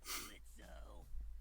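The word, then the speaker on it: Blitzø: Uh-huh, sure, Blitzo. The O is silent now, bitch.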